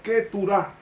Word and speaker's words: Keturah: Entonces, para ese hijo único, y luego él tuvo 4 hijos más cuando murió Sara, que se llamó Ketura, que se pronuncia en hebreo Keturah, que tuvo los últimos 4 hijos.